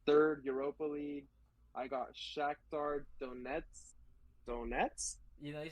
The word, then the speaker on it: Shakhtar Donetsk: And then for third, Europa League, I got Shakhtar Donetsk. You know, you said it right. I want to say? Yeah, Shakhtar Donetsk.